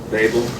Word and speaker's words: Daboll: Yeah, so it's Daboll. D like table, Daboll.